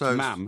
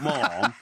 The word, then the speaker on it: ma'am: you're dressed as mom which rhymes with ham so it's ma'am it's not barbecued it's not mom unless you produce ham